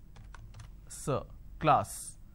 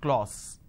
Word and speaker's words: class: sound ah another example the word is class and the pronunciation is K Le ah class this is how the pronunciation is but people make a mistake they say Le all so instead of saying class they end up pronouncing this as clause okay now why does